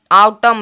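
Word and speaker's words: autumn: यहां पे एम के पश्चात एन है तो आटम यू जो है आटम तो यहां पे एम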